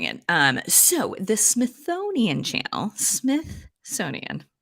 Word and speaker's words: Smithsonian: I put a little th in there the first time I said it. The It made me think that maybe Smithsonian. I had been mispronouncing it this entire time. Smithsonian. You gotta I was like, get two ths in there.